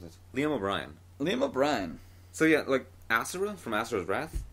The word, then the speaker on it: Asura: Even though Asura may sound like Azura from Elder Scrolls, it's No, I'm pretty sure it sounds. At least Yasha, he pronounces it Asura.